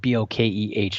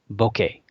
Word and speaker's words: bokeh: It's spelled B-O-K-E-H. Not a lot of people argue about how to say that, but popular way that I've heard is bokeh or bokeh.